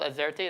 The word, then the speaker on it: AZERTY: I heard it's called Azerty. Is that the correct pronunciation?